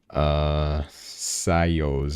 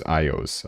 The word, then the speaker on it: Ios: Sayos is the last one that we'll review. Sayos. Did I spell it wrong? Oh, it's Ios. I read the S as a dollar sign.